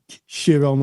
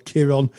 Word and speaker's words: Chiron: Yes, it's a very powerful story, and you know, I think that there's different ways of pronouncing Chiron or Chiron. I've heard it said Chiron, sometimes it said Chiron, but of course Chiron